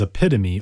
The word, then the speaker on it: epitome: Our first word is epitome, or if you're my sister, you pronounce it epitome.